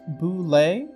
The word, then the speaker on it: Bulette: It’s pronounced boo-lay, and if anyone has a problem with that, Tim Kask is more than happy to explain why you are wrong.